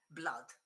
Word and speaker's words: blood: There are only two words with a double O which are pronounced. I haven't got the symbol, but anyway, I put like this. I'll pronounce R. Okay, one is blood and the other one is flood. There are the only two.